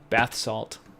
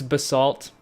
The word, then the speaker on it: basalt: Bas salt or Bas how do you say it by the way bath salt bath salt yeah did you see um it's it's Basalt okay uh oh these